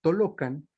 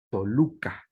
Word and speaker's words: Toluca: su historia de Texcoco, que los misioneros observaron que los mexicanos pronunciaban la O y los texcocanos la U para decir la misma palabra. De ahí que los Tenochcan dijeran Tolocan y los Matlacincas dijeran Toluca.